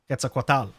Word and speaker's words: Quetzalcoatl: But I feel like Valigarmonda is already, like, based on Quetzalcoatl. Quetzalcoatl, sorry. I guess that is how you actually pronounce it, but you know.